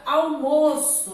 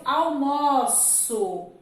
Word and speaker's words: almoço: Então, olha só, eu almoço, né? Eu almoço na cantina da dona Maria. Olha já a outra expressão. O almoço está na mesa. Almoço e almoço. A pronúncia aqui foi diferente.